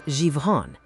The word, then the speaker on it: Zhifon: In the Paleo language of Zhifon, pronounced as Zhivon, the act of naming the hidden snare is the act that finally breaks it.